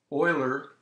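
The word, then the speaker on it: Euler: calculus the other thing is the integration type Oiler it's pronounced like an starts with an O is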